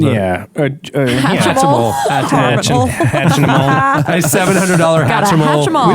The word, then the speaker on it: Hatchimal: Or you got a Harmonal or Haminal or whatever they're called. Yeah. Hatchimal.